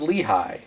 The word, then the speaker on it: Lehigh: Oh, I believe it's pronounced Lehigh.